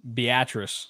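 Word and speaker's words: Beatrice: was the small pronounced yeah yeah it's really pronounced beatric so yeah I would have went beus I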